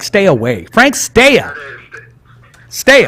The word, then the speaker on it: Stea: Stea, right? You got it, Rich. Not too many people pronounce the last name properly or correctly, but you get used to it after all these years.